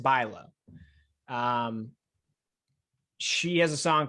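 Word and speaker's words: Bülow: yeah i know who that is got it pronounced bilo um she has a song called first place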